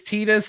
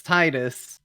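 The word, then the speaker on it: Tidus: and as a result there's not consensus on how to pronounce his name it's t-i-d-u-s and we went hard on this for a while dude some people think it's Titus some people think it's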